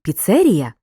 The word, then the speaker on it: піцерія: в слові є ненаголошеними так у слові піца наголошений перший склад а от у слові піцерія другий склад деякі слова в українській